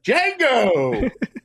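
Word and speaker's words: Django: this movie Jango unchain Jango the D is silent very good very good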